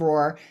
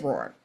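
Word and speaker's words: ROR: that so what is Roar um as you can see here uh Roar the research organization registry um usually referred to by its acronym which rhymes with the Lions Roar um is a global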